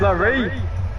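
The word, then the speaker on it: Laree: I mean, it is spelled L-A-R-E-E. It could be Larry. It's fucking not, man. It's fucking not. It's fucking not. It's Larry.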